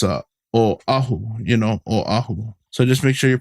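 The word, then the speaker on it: Oʻahu: a W they go aahu aahu but just know that there's a okina between the O and the a so that shows it's a Oahu you know Oahu so just make sure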